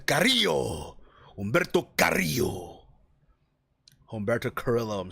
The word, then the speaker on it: Carrillo: my special be upset you're saying it wrong man Carrillo Humberto Carrillo Humberto Carrillo